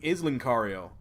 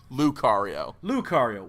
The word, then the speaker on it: Lucario: Now, my very close second, though, is Lincario. And the Lincario? Did I say it wrong? Lucario. Whatever.